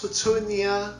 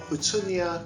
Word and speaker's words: Houttuynia: How would you pronounce this name? This is Houttuynia or Houttuynia Cordata to give it its fuller name.